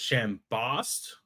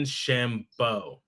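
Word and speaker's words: Chambost: I wan to say a lot of people are gonna pronounce it shamb Bost but I want to say it's Dylan Shambo b or B B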